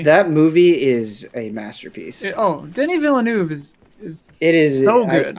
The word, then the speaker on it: Denis Villeneuve: Denis Villeneuve is It is so good. I truly love that movie. Is it I Denny? love- I thought it was Dennis. It's Denny? Denis Villeneuve. Denis Villeneuve.